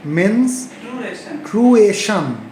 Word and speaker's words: menstruation: মেনস্ট্রুয়েশন, রেশন না এশন, মেনস্ট্রুয়েশন, ঠিক আছে?